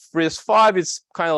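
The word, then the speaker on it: RISC-V: is risk five so risk five is is written as risk Dash V but the the V is actually pronounced five number five it's an open source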